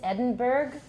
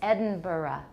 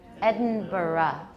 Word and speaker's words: Edinburgh: Okay, the American pronunciation is Edinburgh because we don't know how to say it right. But the Scottish or the UK pronunciation is Edinburgh. Edinburgh. You'll add a schwa at the end.